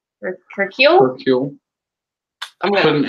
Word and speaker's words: Hercule: Hercule.